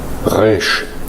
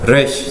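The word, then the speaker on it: רֵישׁ: 이제 요거는 이 Q 발음 비슷하게 이제 그렇게 된다고 보시면 되고요. 이렇게 이게 P가 아닙니다. resh, 다음에 resh, 브러쉬.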